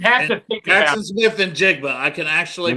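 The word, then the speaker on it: Smith-Njigba: You'd have to think Jackson about Smith and Jigba. I can actually pronounce that one correctly.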